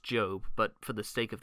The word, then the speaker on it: Job: the book of job i know it's pronounced job but for the sake